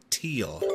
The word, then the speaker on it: Thiel: from the donors philosophy I believe that he pronounces it teal I was gonna let